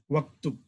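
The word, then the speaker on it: واكتب: So Hamza, the Hamza is Hamzatul Wasl. When you read, you do not need to pronounce it. You join wa to waktub.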